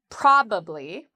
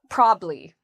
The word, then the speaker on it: probably: Well, the first part is where we have the stress, where we say it's stronger and louder and longer. There's actually 2 different pronunciations of this. You can say with 3 syllables, probably, or you can say it in conversation with 2 syllables, probably, or probably. You will hear people use both.